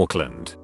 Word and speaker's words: Auckland: if he's going to auckland the nz pronunciation sounded like oakland so he stayed on